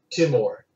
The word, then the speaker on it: Timur: He was usually referred to as the Emir Timur. Uh-huh. And how his name is spelled depends on what language you're transliterating it from. He was Turkic or Turk-Mongolian, so it was more like Timur, which means iron.